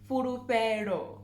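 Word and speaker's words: Fhulufhelo: Again, the FH, it's not furu, it's fu, furufero. Furufero.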